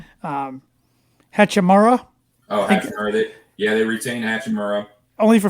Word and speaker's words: Hachimura: I can't pronounce this guy's name. Hachimura. Oh, Hachimura.